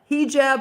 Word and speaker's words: hijab: enough do you remember hijab hijab is the pronunciation okay do you remember